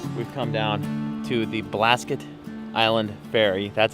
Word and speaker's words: Blasket: with the Mitzvah we've come down to the Blasket Island ferry that's how it's pronounced Blasket I don't think the ferry is